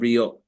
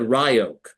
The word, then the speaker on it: Ryok: And it's because in Hebrew, the Y sound is given an E sound. So phonetically, it's R-I-O-K, like Ryok.